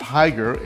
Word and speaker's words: Hygger: I guess it's pronounced Hygger, H-Y-G-G-E-R.